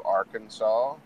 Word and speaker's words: Arkansas: We're traveling through Arkansas.